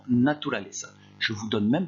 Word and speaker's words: naturaleza: Attention à la prononciation, naturaleza.